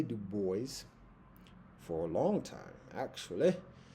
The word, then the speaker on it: Du Bois: um one of the reasons why I say du boys for a long time actually is because at